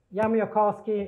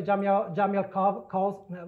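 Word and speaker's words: Jamiołkowski: Yamio-Kosky is a Polish name, so I will spell it for you. Yamio-Kosky. So many people have problems pronouncing this. They will say Jamiel-Kosky. Well, okay, I don't know. So this is Polish. So J is a Y.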